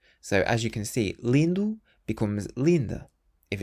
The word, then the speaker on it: lindo: The word beautiful in Portuguese is lindu.